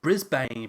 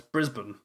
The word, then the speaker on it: Brisbane: want to say it number one you want to say it like Brisbane but it's Brisbane you want to say you want to say Melbourne but it's just Melbourne you want to say lawn